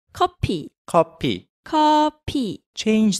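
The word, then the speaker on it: 커피: say stop kidding it's copy copy copy change that f sound to the p sound because in korean there's no f sound so say that again copy copy so let's say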